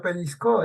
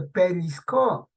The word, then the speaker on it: pellizcó: Le peñiscó, no se dice nunca peñiscó, dice pellizcó.